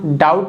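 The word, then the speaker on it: doubt: पर लिखा हुआ है जो लेटर बी है ना डाउट में साइलेंट है यानी चुपचाप है भी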